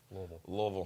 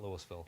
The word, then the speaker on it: Louisville: And you have to say Louisville with a speech impediment to say it properly. Louisville. Not Louisville.